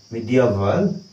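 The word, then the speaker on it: medieval: जुग होछि मिडिएवल एज केमिति पढिबा मी डी आ वल मिडिएवल एज ओके एज को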